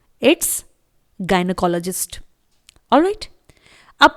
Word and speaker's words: GYNECOLOGIST: Medical language में English में बोला जाता है गायनोकोलॉजिस्ट। स्पेलिंग देखिए GYNECOLOGIST। इट्स गायनोकोलॉजिस्ट।